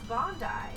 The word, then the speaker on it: Bondi: So like I assume if you see it spelled like this, but it's Bondi.